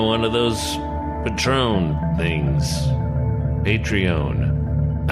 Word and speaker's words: Patreon: We've even got one of those Patron things, Patreon. I always pronounce it like the tequila.